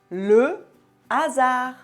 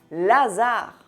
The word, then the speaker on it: le hasard: Par exemple, le hasard. Il n'y a pas d'élision. On ne dit pas Lazare.